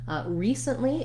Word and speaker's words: recently: pattern and those sounds recently is another example of first syllable stress where the letter e does say the e sound and then letter c says s i've written it here recently with no vowel sound between the s and the n again because